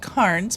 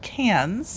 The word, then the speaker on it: Cairns: It looks like it should be pronounced Cairns, but it's pronounced Cairns.